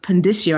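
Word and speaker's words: Pondiscio: And I think Robert Pendicio, I hope I'm saying his name correctly.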